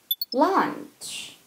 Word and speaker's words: launch: 작대기 표시가 없다는 것은 한 호흡으로 이 단어를 발음을 해야 된다는 거예요. launch, launch, launch, launch.